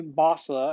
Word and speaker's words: Boslla: this company contacted me basler i believe is how it's pronounced about uh doing a